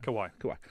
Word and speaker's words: Kawhi: Kawhi.